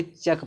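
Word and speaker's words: cheque: चेक पढ़ेंगे।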